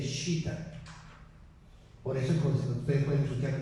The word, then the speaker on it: citta: En sánscrito, mente se escribe como, se dice Shita.